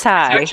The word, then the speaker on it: Tsai: yes a TA sts-80 the T and the s go together it's sighs it's probably we're good